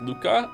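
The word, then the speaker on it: Lucca: Okay, so I've always pronounced this as Luca. I don't know if it's Lusa, but I'm going with Luca, okay? It's Luca. Is Luca correct? Yes.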